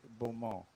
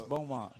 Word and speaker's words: Beaumont: Don't pronounce it Beaumont. Beaumont. Beaumont. It's Beaumont. Beaumont. Yeah, you kind of say it out of the side of your mouth.